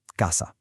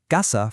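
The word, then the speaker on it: caza: In Latin America, the word casa, which is house, and gasa, which is hunting, are pronounced exactly the same, gasa. But in a lot of Spain, that Z in gasa gets a th sound, kind of like in the English word think.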